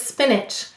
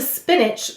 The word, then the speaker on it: spinach: The first syllable is spin. S-p-in. The second syllable is ach. Ach. And how will we mark it? We'll underline the ch. Let's read it. Spinach. Spinach. And once again, you hear a schwa or a lazy vowel in that second syllable.